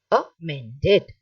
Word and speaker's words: amended: can repeat after me so what is a wrong we will discuss first and then i will tell you the right thing so amended wrong a men dead wrong a man dead right amen dead right okay it will take